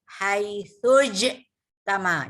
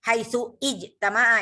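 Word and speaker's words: حيث اجتمع: Perhatikan saya bacanya haitsuj tama. Jadi bukan haitsu ijtama'a ya. Ini tandanya hamzahnya hamzah wasal.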